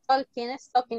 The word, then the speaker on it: talking: No es talking, no se pronuncia la L, ¿ok?